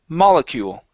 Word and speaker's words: molecule: uh next is molecule the stress is at the very beginning of the word molecule molecule okay very good